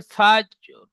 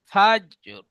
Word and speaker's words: الفجر: ওয়াল ফাজর, والفجر. ফাজ নয় ফাজর, র, র উচ্চারণ করলে মুখটি গোল হয়, তো মুখ গোল করবেন।